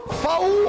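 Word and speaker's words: FAW: FAU se escribe F-A-W y se escucha FAU.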